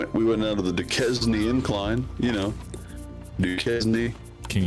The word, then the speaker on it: Duquesne: Yeah, you pronounced it right the first time. You were right. Duquesne now.